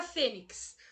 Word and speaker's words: fênix: Olha a palavra fênix. A palavra fênix, a sílaba tônica dela é o Fê, uma palavra paroxítona.